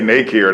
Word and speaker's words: Nakier: I mean, it's like two syllables, like nah or nay. Care. Right. It's So if they not- say Nakier, that's closer it's fine. than. Yeah, I'm okay with Nakier.